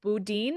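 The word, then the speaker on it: Boudin: sourdough bread and it's this place called Budin I think is how you pronounce it uh b o u d i n but uh just a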